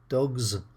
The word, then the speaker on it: dogs: That's easy but they're pronounced in three different ways - 'cats' with a 's', 'dogs' with a 'z' and 'bridges' with an 'is'.